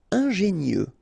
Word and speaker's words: ingénieux: Ingénieux. Final X not pronounced, so I-E-U, I-E, nieux.